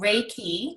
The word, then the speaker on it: Reiki: it is it's called Reiki so ray like the Sun and ki KI and it's spelled REI ki and it is it's